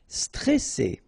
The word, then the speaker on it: stressé: Stressé, okay, remember you get double S here, so you pronounce it really strong while it's between two vowels. So C, all right, and then here you get this E before the double S, so it will open the pronunciation of the E, stressé, stressé.